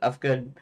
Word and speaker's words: Uhfgood: H in it, because I thought that the spelling had a silent H in it for some stupid reason, which it didn't. Um, and if you, well, anyways, it doesn't matter. It doesn't matter. It's UHFGOOD. I pronounce it Ufgood.